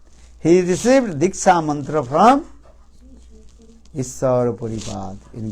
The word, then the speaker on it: Diksha: Diksha. But Sanskrit word, that is called Diksha. There are two syllables.